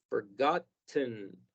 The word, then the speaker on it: forgotten: Vamos a eliminar esta letra y hacer que nada más suene ahí un sonido como flojo, como forgotten.